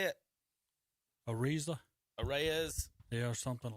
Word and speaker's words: Arraez: Arraez.